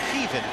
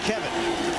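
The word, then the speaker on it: Kevan: He told us the real pronunciation is Kevin, not Kevin.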